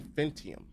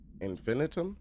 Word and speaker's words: infinitum: They only seem interested in vocalizing the strange inc uh incantation and infant in infantium. got in. No, I butchered that. Infinitum. Yeah, Infinitum. Um, perhaps these vessels are only meant to propagate the his corruption like spores or Wi-Fi boosters.